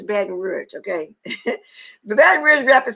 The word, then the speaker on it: Baton Rouge: In a recent interview on Black TV, the Baton Rouge rapper said, I think, and when I said baton, because we used to pronounce it like that sometimes, but it's Baton Rouge, okay?